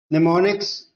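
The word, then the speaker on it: mnemonics: निमोनिक्स, अब देखिए अगर आप निमोनिक्स पढ़ेंगे तो आपको लगेगा निमोनिक्स इज the correct option, लेकिन यहाँ पे आगे निमोनिक होता है एम, जो कि साइलेंट होता है।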